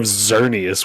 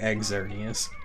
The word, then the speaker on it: Xerneas: But it's a picture of Xerneas with it. Excellent. At least you don't say Exernius.